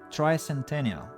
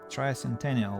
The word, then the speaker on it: tricentennial: uh Centennial okay it's trans tricentennial try Centennial like three centuries try Centennial right hold